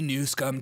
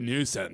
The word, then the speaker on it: Newsom: Call me new scum to my face. I'm not It's not funny. It's not freaking funny. Don't you call me NewsCUM. I'm literally Newsom. Say it right.